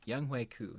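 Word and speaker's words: Younghoe Koo: pronunciation on that last week. Young Hui Koo is his name.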